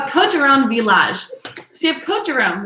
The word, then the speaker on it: Villages: called coterone village or villages um but village is how that is pronounced so code your own village so there's about 17